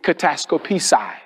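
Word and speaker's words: κατασκοπῆσαι: That word spy is pronounced in Greek kataskopisai.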